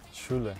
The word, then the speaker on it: Sjoelen: Can you pronounce it? Sjoelen. Sjoelen. Sjoelen, okay, nice, nice, nice.